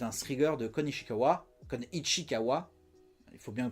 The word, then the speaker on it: Ichikawa: comme Ichikawa, il faut bien le prononcer hein, euh qui est sorti en en 1976 et que je vous conseille de regarder.